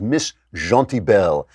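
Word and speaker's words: Miss Gentilbelle: a story I believe the way to pronounce this is Miss Jean T bell and Miss Jean T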